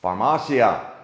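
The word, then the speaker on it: farmacia: all about Mexican pharmacies pharmasia ha we finally figured out only took us year to figure out how to say it correctly I know I've been spelling it and saying it wrong for a year the biggest thing that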